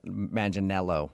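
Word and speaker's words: Manganiello: looks like Joe Manel Maninello, right? That's how you say it.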